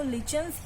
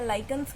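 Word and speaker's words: lichens: दिखेगा और ये आपको लिचन्स या लाइकन्स बोलते हैं, उनसे मिलता है. लिटमस जो है वो ये रहा, लाइकन्स और यू can pronounce it लिचन से मिलता है.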